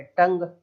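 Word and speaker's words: tongue: है वर्ड आखिर में, तो इसमें से यू साइलेंट हो गया, केवल इतना ही पढ़ेंगे, टंग।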